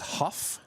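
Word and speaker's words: Hough: We got a couple chats here that h o u g h is pronounced huff. Huff huff.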